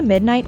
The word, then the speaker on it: midnight: Burn the midnight oil is synonymous with pull an all-nighter, and hence can be used as an alternative to the phrase. The word midnight is stressed on the first syllable.